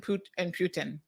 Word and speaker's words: Putin: to remember it is it's very close to the Spanish word puta. Puta and Putin. So if I remember puta, the Putin is a puta, I should be able to pronounce it correctly.